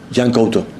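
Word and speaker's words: Yan Couto: Did you think about keeping him and playing him or sorry Yanuto Yanoto? Yeah. No, no, you pronounce really good.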